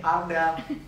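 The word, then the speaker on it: Ardell: Jadi ada cara pengucapan. Iya, ngomongnya begini nih, Ardel.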